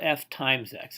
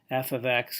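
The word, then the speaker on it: f(x): this right here F this is pronounced f of x not f x x and this would be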